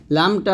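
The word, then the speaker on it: ل: পেশ কুন এরকম পাতলা লামটা আমরা জিব্বার জিব্বার আগার কিনারা সামনে উপরে দাঁতে মা সঙ্গে লাগিয়ে বাংলায় লামের মত উচ্চারণ করব লাম এরকম লাম জবর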